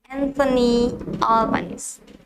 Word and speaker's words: Albanese: One more time, it's Anthony Albanese.